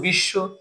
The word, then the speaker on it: বিশ্ব: বলছিলাম কি সেটা হলো শব্দের শেষে এটা শব্দ বিশ্ব বিশ্বের শেষে কিন্তু বফলা আছে তাই বফলাটা আমরা